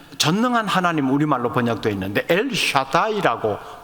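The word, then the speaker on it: אל שדי: 표현합니다 지칭합니다 여기는 전능한 하나님 우리말로 번역돼 있는데 엘샤다이 아고 발음하는 히브리어 있니다이 엘샤다이 표현되는 하나님은 능력이 충만하신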